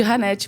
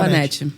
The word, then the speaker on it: Hannette: E nos Estados Unidos o pessoal me chama de Ranete, por causa do H. Do H. Mas qual é a pronúncia correta? Anete, eu falo Anete.